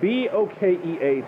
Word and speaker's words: bokeh: I think it's pronounced B-O-K-E-H, like a bokeh or bokeh.